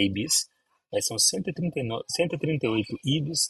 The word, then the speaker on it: Ibis: Então, acho que o mais conhecido de todos que é o IBS ou Ibis, a pronúncia acho que correta francesa, né? uma rede rede francesa é Ibis, mas são 139 138